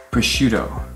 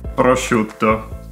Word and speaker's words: prosciutto: So here you will see a pattern of double T's that are not actually pronounced, or in American English they turn into a D for some weird reason, and that's not the case. Like, double T is double T, T.